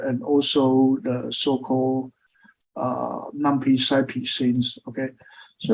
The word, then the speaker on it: NumPy: pilot actually including lumpy and macro live okay numpy the medical culture of example some people pronounce the new Peak okay whatever and it's